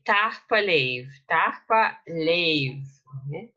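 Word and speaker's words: tapadh leibh: Tahpa Leiv, Tahpa Leiv. Okay, so Tahpa Leiv. You don't pronounce the H at the end of the first word, so this DH is not pronounced.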